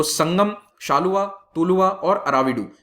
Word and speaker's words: Saluva: तो इंग्लिश में इसको लिखते SALUVA है, तो इसको शालुवा प्रोनाउंस करते हैं, एक्चुअल प्रोनाउंसिएशन शाल्व डायनेस्टी है, ओके। लेकिन तेलुगु में प्रोनाउंस होता है तो शालुवा डायनेस्टी भी हो जाता है कई बार।